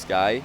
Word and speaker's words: SQI: SQI is pronounced Sky.